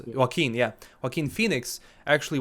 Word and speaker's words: Joaquin: heard that some joking or what name is pronounced Joaquin yeah work in Phoenix actually was selected for